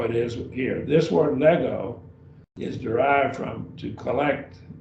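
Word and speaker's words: λέγω: Have this next, our last word here, it's a verb also, lego, 2 syllables.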